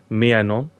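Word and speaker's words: Maignan: mike and i've had to learn how to pronounce this myannon he is uh the french goalkeeper brought in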